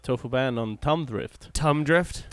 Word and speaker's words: Thumb Drift: Thumb Drift? How do you say that? Thumb? Thumb. You don't know how to make a TH sound, Paco?